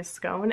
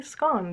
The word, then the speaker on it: scone: right sophie poiser says does scone rhyme with cone or gone and my answer is if i'm in america which i am right now it it rhymes with cone because i will say scone and if i'm in england i will say scone because i would like to